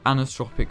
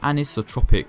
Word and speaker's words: anisotropic: blur strength keep motion blur or hate it anastropic filtering and the i can never pronounce this right anisotropic filtering ah there we are times 16 that